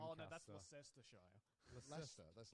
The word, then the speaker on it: Leicester: No, it's spelled like Lancaster. Oh no, that's Lancaster. Leicestershire. Leicester. That's Leicester.